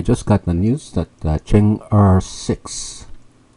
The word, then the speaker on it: Chang'e: got the news that Chen R six Chen ER this you pronounce ER in Chinese six has just inserted